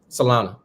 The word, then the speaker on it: Solana: How do you pronounce it again? Solana.